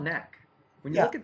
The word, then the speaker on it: Knack: How you pronounce it? Knack.